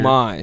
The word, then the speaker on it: homage: Homage. A homage. Homage. Homage. A homage. No, you don't have to pronounce the H.